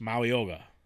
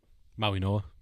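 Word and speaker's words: Mauigoa: Um so I got Mauyoga. Is that how you say your name? Maui Noah. Maui Noah. G is silent like lasagna.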